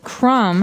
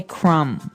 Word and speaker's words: crumb: And and I want to remind everyone that the word crumb has a B on the end, C-R-U-M-B, but we don't pronounce the B. We just say crumb.